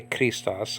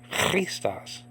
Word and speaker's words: Christos: Jesus christas you see you don't say Christos I mean that's lazy you say freestas I'll say three stars